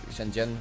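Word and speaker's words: Shenzhen: game will'll be in shenzen because uh shenzen rather that's how you pronounce that which is np's home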